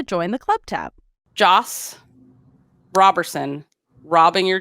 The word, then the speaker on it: Roberson: It's not Robert, it's Rob. No, Robe. It's not Robe, it's Robert. Like Robert. I used to say Roberson. You had to have a little saying to keep you focused. Because I said it wrong for so long. It's robbing your D scores.